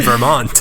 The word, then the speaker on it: Vermont: That's how the locals pronounce it in Vermont.